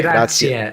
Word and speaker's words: grazie: Grazie. Grazie. Grazie, with an air sound at the end.